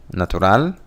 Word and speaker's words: natural: Also, if you look at number 8, natural is the syllable stress. The stressed syllable is on the first one. In Spanish, it's at the end. Natural. That's where the intonation goes up.